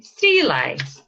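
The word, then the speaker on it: Sruighlea: Strelai. Sterling. Strelai. There is a T there that is not written.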